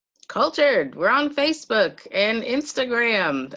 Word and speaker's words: kultHERed: You say kultHERed just like kultHERed. kultHERed.